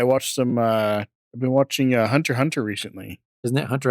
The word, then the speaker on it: Hunter x Hunter: I've been watching Hunter x Hunter recently. Isn't it Hunter x Hunter? Hunter? Never seen it. It's got an X in it, but I don't think you actually pronounce the X.